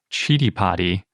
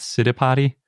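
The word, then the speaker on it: Citipati: a little side note i found the sanskrit pronunciation guide for chitty potty and that seems like it's the correct way to say it and not city potty or city potty which is especially confusing now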